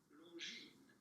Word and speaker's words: Longines: S at the end of Longine is silent, so do not pronounce it Longine.